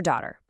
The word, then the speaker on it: daughter: Now, a quick tip on pronunciation for daughter. It can be tricky. It's not a hard t sound. It's softer, almost like a d.